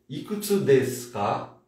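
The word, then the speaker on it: いくつですか: Lembra, não pronuncie o U, tá? Ikutsu desu ka? Como se não tivesse o aqui, ó. Chinamini, o ikutsu desu ka?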